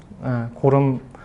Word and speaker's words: GORM: 거기에 있어서 이제 GORM, 고름, 발음은 좀 그렇긴 한데 어쨌든 얘를 좀 많이 썼고요.